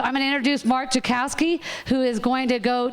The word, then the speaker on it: Jackowski: all right so i'm going to introduce mark jokowski who is going to go take you through the legal history of this property um my name is mark jakowski and that last name is spelled for you irishman j-a-c-k-o-w-s-k-i um i'm an